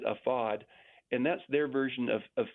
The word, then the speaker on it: AFAD: met with an organization that's afad they pronounce it afod and that's their version